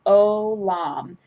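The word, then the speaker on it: עולם: This is a holum vav, so it's olam, and this is just your O sound. So it's pronounced the same as if this were just a holum right here, but it has the mater in it.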